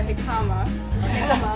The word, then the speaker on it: jicama: a turnip, but a jicama. We figured out the J was silent.